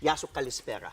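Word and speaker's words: Γεια σου καλησπέρα: Yasu Kalispera.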